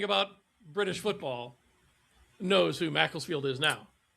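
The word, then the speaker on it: Macclesfield: Um John Rooney is the manager of and I'm going to get this name wrong, but M Castlefield Macklesfield. Mlesfield. Macklesfield.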